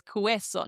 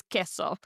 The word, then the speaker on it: queso: Now we know in these combinations our favorite word cheese for example queso we do not pronounce as queso. No, it is queso.